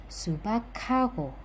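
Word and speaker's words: 수박하고: Jadi, dibaca bukan sebagai ' subak hago', bukan terpisah, tetapi digabung menjadi 'subakago'.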